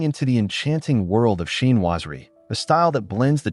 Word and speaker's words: chinoiserie: Today, we're diving into the enchanting world of chinoiserie, a style that blends the charm of Eastern artistry with classic Western glamour.